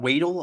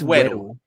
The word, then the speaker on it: Weddle: Weedle, I believe it is as well. Like fucking Pokemon Weedle. I kept having a giggle every time I'd say his name, but Is he it was Weddle? a live wire. I think it's Weddle. It's Weddle, Yeah.